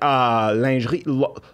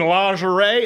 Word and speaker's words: lingerie: So I'm like, lingerie, lingerie, the first time I read it, and they're like, what are you talking? You mean lingerie? It's like, oh, that's how you say it.